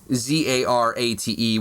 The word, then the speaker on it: Zarate: And then also on YouTube, M Zarate, Zarate, which you've explained to me how to spell your last name. Yes, you spell it like karate with a Z instead of a K.